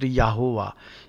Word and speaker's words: Jehovah: is also spelling is Jehovah but it is pronounced yahovah J is pronounced why here itself I think